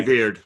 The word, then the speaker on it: Dooyeweerd: I looked into I don't know how to pronounce this guy's name. Dooyeweerd. Dooyeweerd. Dooyeweerd. Okay. Dooyeweerd.